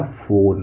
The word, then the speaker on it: phone: एन है तो न लिख देते हैं और यहाँ पे ई साइलेंट है तो क्या हो गया? फोन।